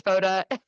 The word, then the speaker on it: Fotta: what's your oh everyone calls me f foda f but that's actually not how you say it I just let it happen because it sounds better when you guys say it it's foda okay yeah but everyone